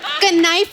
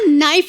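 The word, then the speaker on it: knife: कनाइफ नहीं होता नाइफ होता है। केस साइलेंट रहता है।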